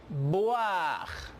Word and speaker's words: boire: Alors, le OI se prononce comme roi en français. Por lo tanto, yo prononcio boire. Et je prononce aussi trois.